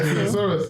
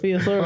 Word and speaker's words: thesaurus: Thesaurus. Theosaurus.